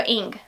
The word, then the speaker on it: Inge: It's short for Ingrid, so Ing. I'm going to pronounce it Ing. We're going to do it that way, so like the first 3 letters of Ingrid, maybe? Maybe we're going to go